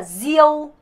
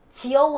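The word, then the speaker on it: rượu: D, G, I, R은 같기 때문에 the 발음이라고 했죠? 그러니까 zio, zio인데 성조가 있어서 zio, zio, zio. 지어우 하시지 마세요. zio, zio 이렇게 되는 거예요.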